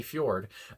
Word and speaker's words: fjord: do want to mention, because a fjord, I guess, is how you do pronounce it. And I was thinking, is that like Bjork, where you're supposed to pronounce it like Bjork? But I think he did say fjord.